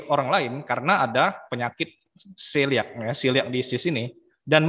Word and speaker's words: celiac: Nah, kecuali hanya bagi penderita penyakit celiac, ya ini bacanya celiac, yaitu alergi gandum.